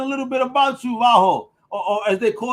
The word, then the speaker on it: Vaho: And did I pronounce that right? Is it Vaho, Vaho? How you like it? Vaho. Yeah, you got it. Vaho.